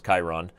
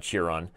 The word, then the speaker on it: Chiron: have it here in Kieran Chiron cheer on the mispronounced Greek ascent or as I apparently did as I read all the Percy Jackson books it was Chiron not cheer on apparently I'm just not